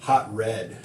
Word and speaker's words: Hatred: It's pronounced hot Okay. red. Hatred. Hot red. Hot red.